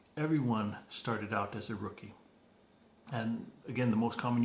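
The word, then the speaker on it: Rooci: So the name of the company is Rookie Wear. It's a Polynesian designed apparel line. And Rookie Wear is spelled R-O-O-C-I. You can see that there, R-O-O-C-I. And it's a play on the sports term rookie.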